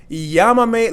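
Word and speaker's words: llámame: no recuerdo means I don't remember no recuerdo Yama me luego yamame luego means call me later and this accent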